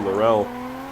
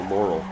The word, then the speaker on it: Laurel: driving this c33 larell I have to say it like the Aussies - like when I